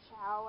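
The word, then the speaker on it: Ciao: other versions, like the Chow, I think that's how you say it, C-I-A-O, I think it's Chow, and then there's, like, wide versions, too.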